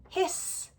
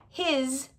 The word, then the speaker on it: his: But if you started learning English reading, you might always pronounce it as an s, his, instead of a z, his, and not even notice it.